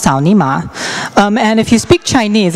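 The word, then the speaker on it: 草泥马: It's pronounced Cao Ni Ma.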